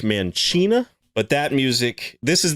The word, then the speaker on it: Mancina: Mark, man, I always used to think his name was Mancina, but there is a Speed podcast I've been listening to, and apparently it is pronounced Mancina.